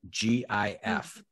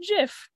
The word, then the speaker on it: GIF: and they're they're spelled g-i-f how do you pronounce that i believe some pronounce it jif no it's definitely gif definitely gif i should have actually